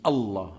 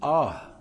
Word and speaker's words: Allah: Alors, c'est pas comme ça qu'on prononce le nom de Dieu. Alors ça, il y en a dans beaucoup de pays, le fait de prononcer le nom de Dieu de cette manière. Et il y en a d'autres encore, ils disent Ah.